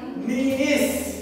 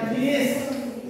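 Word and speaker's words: niece: itu keponakan laki-laki kalau keponakan perempuan itu dibacanya niis nice itu binya ya dibacanya niis Coba kalian manis ne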